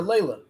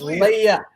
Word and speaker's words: Leia: as well we're gonna stop calling her Layla Princess Leia the L from salmon into Layla this is nice that's that's Layla is like Leia no Leia there's no P Dion you refuse to say it right there's no P there's no l princess lamb that is